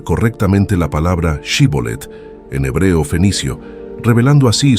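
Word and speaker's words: Shibboleth: río Jordán dijeron que pronunciaron la palabra shibolet sin embargo debido a su herencia egipcia no pudo pronunciarlo correctamente y en su lugar utilizó la forma zolet esta dificultad lingüística provocó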